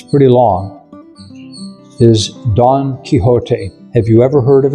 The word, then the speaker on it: Don Quixote: the greatest book I ever read and it's pretty long is Don Quixote. Have you ever heard of it? No, never. It Don Quixote, it's spelled d o n q u i x o t e.